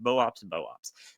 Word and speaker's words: Boops boops: The same goes for Boops Boops, which also suffers under the fact that it's almost certainly pronounced Boops Boops.